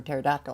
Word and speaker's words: pterodactyl: I did not know there was a P in front of a T for pterodactyl.